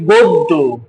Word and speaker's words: গদ্য: তাহলে শব্দের শুরুতে অ আছে অ এর পরে জফলা আছে তাহলে সংত হয় তার মানে অটা ও এর মত উচ্চারণ করতে হবে পদ্য হয়ে যাবে পদ্য গদ্য হয়ে যাবে গদ্য অন্য হয়ে যাবে অন্য